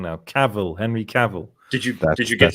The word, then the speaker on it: Cavill: Cavill, Henry Cavill.